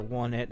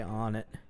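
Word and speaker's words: Onett: doesn't just cover uh on it on it or want it however you want to pronounce it i say on it okay you can always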